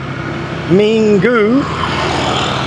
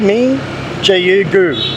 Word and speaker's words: Minggu: If it's like Minggu, it's M-I-N-G, Ming, G-U-Gu. You pronounce it sort of like two words, Minggu.